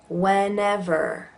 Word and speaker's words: whenever: Whenever. So you'll notice in that one there are 3 different E's. The first 2 have an eh, and this third one is a schwa.